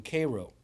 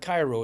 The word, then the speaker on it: Cairo: Uh the main industry, the main money in Illinois was in southern Illinois in Cairo, not Cairo. It's spelled Cairo.